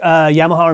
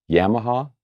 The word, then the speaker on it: Yamaha: level affordable boutique guitar now you say yamaha or yamaha i see yamaha okay how do you say it yamaha yamaha yamaha sounds the same to me it's the accent i'm sure it is so we